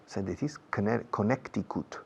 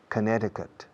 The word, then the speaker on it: Connecticut: Connecticut. Yeah, Connecticut. La C en medio no se pronuncia. Connecticut.